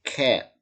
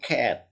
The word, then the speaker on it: cat: Ini bacanya cat, ya. Ya, kalau lihat toko cat jangan bilang toko cat, ya. Cat, ya. Cat, bag, apple, black. Jadi itu tidak bisa dibaca cat, bag, apple, black, enggak.